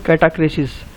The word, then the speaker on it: catachresis: इस फिगर को बोलते हैं कैटाक्रेसिस। कैटाक्रेसिस की स्पेलिंग क्या होती है, CATACHRESIS।